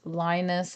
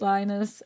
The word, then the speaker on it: Linus: I think it's pronounced Linus. That's how I pronounce it in my head.